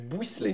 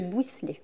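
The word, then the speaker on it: Bouysselet: Du buisselet. Bouisselet, voilà.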